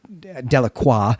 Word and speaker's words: Delacroix: fact that the the de la croix family is in this story that's delacroix though jackson makes a note that they want the anglo pronunciation of that as de la croix this means of the